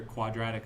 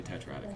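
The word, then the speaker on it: tetradic: so Tetro means four sometimes you hear quadratic it's supposed to be tetratic you you said you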